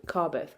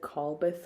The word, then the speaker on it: Carbeth: is going to be the car beth karbeth i i said the name wrong last in the last podcast i said carl bith or something um but i i